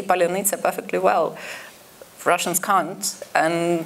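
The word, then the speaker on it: паляниця: But it's become a shibboleth word since the full-scale invasion because some mixture of consonants and vowels makes it unpronounceable for native Russian speakers. Russophone Ukrainians can say polyanitsa perfectly well.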